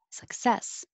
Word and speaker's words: success: it colt 29 success put the stress on the second syllable success and i added 33